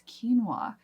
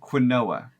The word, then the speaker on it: quinoa: ingredients for something but Josh just learned that it was quinoa I have no words I have no words to share with you guys what were you saying before quinoa quinoa that's what we would